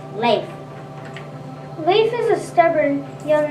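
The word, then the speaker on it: Leif: super girl lengths about L e I F and pronounce late lisa is a stubborn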